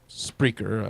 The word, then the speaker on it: Spreaker: a place called spreaker you know i'm not pronouncing that incorrectly it's spreaker or whatever it sounds yeah and that is